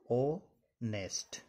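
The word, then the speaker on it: honest: है, तो ध्यान देना यहां पर यह शब्द दिया गया है ऑनेस्ट, इसको हम पढ़ेंगे ओ नेस्ट, ठीक है।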